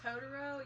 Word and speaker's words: Totoro: Totoro?